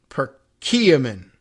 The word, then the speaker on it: Perkiomen: etc and uh oh here's the pronunciation per kiamin Perkiomen Middle Valley procurement Valley